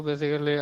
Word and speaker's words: basically: So basically, I have a call, so that's why. Okay. So remember that if a word has ALLY at the end, Okay, we do not pronounce the A.